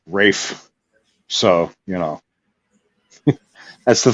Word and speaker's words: Ralph: pronounced Lang I mean Ralph fins is Rafe so you know that's